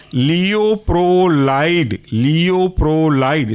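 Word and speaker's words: Leuprolide: है आपका इसी क्लास के अंदर वह है लियो प्रो लाइड लियो प्रो लाइड स्पेलिंग है लियो एल ई यू प्रो पी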